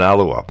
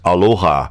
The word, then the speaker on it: Alloa: being pronounced by anyone, they just assumed it was pronounced Aloha. So they thought that their friends came from a town named after a Hawaiian greeting.